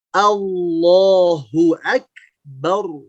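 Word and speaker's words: الله أكبر: Catatan pertama, di lafaz Allah jangan dimonyongkan pas lafaz L-nya, jangan au. Jangan begitu. Tapi perhatikan Allah. Allahu akbar. Bar, bukan bau. Tidak ya, tapi bar. Allahu akbar.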